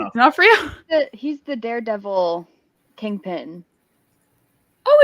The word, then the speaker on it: D'Onofrio: I don't know how you pronounce that either. It's D'Onofrio.